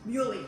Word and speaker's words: muhly: Down here we have some muley grass.